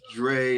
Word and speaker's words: Dre: Dre cuts on Instagram my name is pronounced Dre it's not Drew it's Dre Cutz dcz